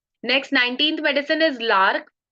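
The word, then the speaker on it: Larch: Next 19th medicine is लार्क। इसे लोग लार्च भी बोलते हैं, बट I pronounce it लार्क।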